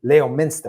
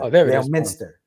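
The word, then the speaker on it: Leominster: it the way I fanatically I see Wicked Leo Minster Le Miner yeah there it is at the Hilton Double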